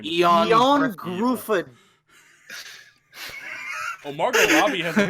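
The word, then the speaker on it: Ioan Gruffudd: So the guy who nobody can pronounce. Oh, his name is Eon Gruffudd.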